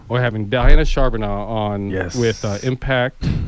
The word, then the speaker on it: Diana Charbonneau: always do with names and and you were butchered yeah uh diana charbonneau we're having diana charbonneau on yes with uh impact uh southern arizona